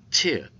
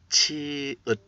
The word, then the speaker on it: 치읓: Today's lecture is consonant chiut. Chiut, chiut. 여러분 안녕하십니까? 조입니다. 또 만나서 반갑습니다. 오늘 우리 클래스에 오신 것을 환영합니다. 오늘의 강좌는 자음 치읒입니다. 치읒. How can we pronounce it? 치읒. 치읒. 치읒.